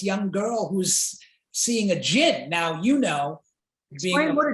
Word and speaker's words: djinn: girl who's seeing a jinn. Now, you know, explain what a jinn is. It's not G-I-N. It's not like gin and rummy. It's not like the game.